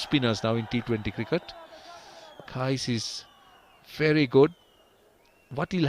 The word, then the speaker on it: Qais: What's the proper pronunciation? Qais or Case? We usually pronounce it Qais Ahmed. Qais, so I'm right. I'm okay. And if you call that Qais Ahmed, that's also okay. Absolutely, no worries about that.